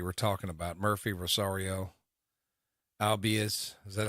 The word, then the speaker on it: Albies: Albies, is that how you say it? Albies.